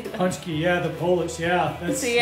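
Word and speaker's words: pączki: Punchki, yeah, the Polish, yeah.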